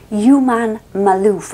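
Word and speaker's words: Juman Malouf: And anyway, he has a long-term partner called Human Malouf. I'm going to spell it for you. J-U-M-A-N, like human, but with J.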